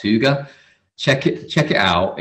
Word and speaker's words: Hygge: It's spelt Hygge, like as an English person would say it, but it's pronounced Hygge.